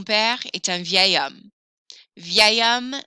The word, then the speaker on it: vieil: This is pronounced vieil. Mon père est un vieil homme. Vieil homme sounds much more flowy, vieil homme, than vieux homme.